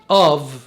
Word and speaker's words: אב: في اخر الكلمة دايما حرف الباء بينطق في. اف يعني اب، دايما كده.